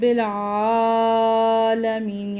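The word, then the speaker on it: العالمين: کیونکہ نیچے زیر ہے۔ رب العالمین، یہاں پہ عین ہے، اس کو عین کے ہی تلفظ کے ساتھ اور لمبا کر کے پڑھیں گے۔ اسی طرح یہاں پر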